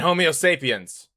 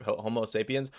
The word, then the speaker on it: Homo sapiens: And homeo sapiens. That's how you say that's how you say it, right? Homo sap homo sapiens. Homo sapiens.